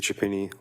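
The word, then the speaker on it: Chiappini: My name is Chapini. Last name is spelled C H I A.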